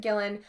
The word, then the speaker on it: Gillan: guys I'm so sorry I was want to say Gillian but there's no extra I Karen Gillan plays the single female